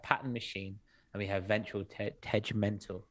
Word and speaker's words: Ventral Tegmental: We have Pattern Machine and we have Ventral Tegmental. Hard G. Very hard G.